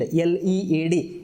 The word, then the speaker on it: lead: It is called as a lead, L-E-A-D. It is not to be spelled with lead.